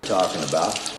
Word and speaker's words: talking about: talking about. Talking about. Talking about. Talking about. 터에 강세를 주고 발음을 해주면 됩니다.